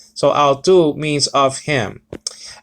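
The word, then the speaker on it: αὐτοῦ: what i'm saying so i'll do means of him alpha of salon with a uh uh swap breathing so it's not how it's ow okay uh tau omicron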